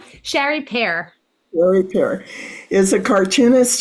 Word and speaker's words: Chari Pere: Sherry Pere, did I pronounce that right? Chari Pere.